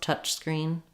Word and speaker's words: touch screen: So when I'm saying touch screen, I guess you can kind of get away with dropping that S. I don't necessarily want to have touch screen with a big break in between them. The ch sound at the end of touch has some noise like a s would, but I think you probably want to try to say both touch screen.